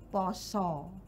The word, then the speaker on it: pasa: iya kenapa pakai a ee bahasa Jawa itu hampir semuanya yang tulisannya a itu diucapkan o mengo o mengo jadi bukan a dibaca a oh contoh Poso tulisannya Pasa Tapi bacanya pos bacanya pos Artinya puasa Nggih to jadi tulisannya bukan